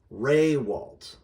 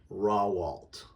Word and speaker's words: Raywalt: The emphasis is on the first syllable, not the second. And we pretend there's an invisible Y there. Why? I don't know. It was the Americanization of our name. But Raywalt is how it is pronounced. This will give you a chance to say it correctly. You'll also notice that I made the emphasis syllable larger. The other way to do that is to underline it. Raywalt instead of Rawalt or Rawalt. That's wrong.